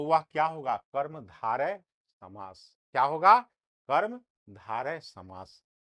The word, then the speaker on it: कर्मधारय: कर्मधारय समास, इसका उच्चारण कैसे करेंगे, कर्मधारय समास।